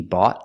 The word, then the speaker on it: bought: We see bought, the T is before a vowel, so that puts the T between vowels. It's pronounced as a fast D.